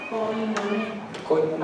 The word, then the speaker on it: koinonia: Entonces se pronuncia koinonia. Ahora se escribe koinonia. Es la coinonía que nosotros decimos.